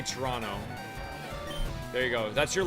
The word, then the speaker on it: Toronto: If you guys ever come to visit me, uh, we do not pronounce the second T in Toronto. We just say Toronto.